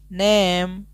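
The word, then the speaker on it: name: कैसे यहां पर देखेंगे एन ए एम E last वाला ई को हम नहीं पढ़ेंगे इसका उच्चारण नहीं लेंगे यहीं तक पढ़ेंगे नेम एन ए एम ई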